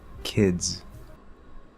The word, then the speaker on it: kids: This also works if there's a D and a Z sound, even if it's spelled with a Z. For example, kids.